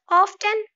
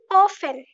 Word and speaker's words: often: Often, no, it's wrong. Often.